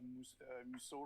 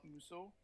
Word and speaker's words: Musso: reading a lot of musou right now she's all about musso which is a french french author i'm gonna say it right this time all right